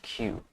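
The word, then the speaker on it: queue: Q Q Q Okay, that is pronounced Q config is surface configured and window.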